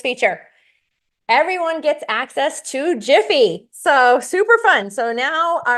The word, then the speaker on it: GIPHY: Some of you might pronounce that GIPHY. It's GIPHY.